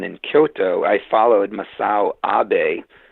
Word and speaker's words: Abe: Kyoto I followed misil obey spelled like aid like Abe Lincoln a Zen philosopher to